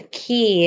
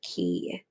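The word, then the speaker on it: cay: that we're going to talk about is a key it looks like k but it's pronounced key so it's a low bank or reef of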